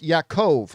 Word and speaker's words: Yakov: Also, my name is pronounced Yakov. Oh, Yo, well, I'll probably mispronounce it again.